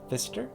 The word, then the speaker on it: Pfister: thank you for joining me for another story the rainbow fish by marcus fister i'm assuming the p is silent um if it's bedtime